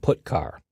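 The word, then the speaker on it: putchar: stream input and output the two most common c language character i o functions are git car and put car that's how i pronounce them git car fetches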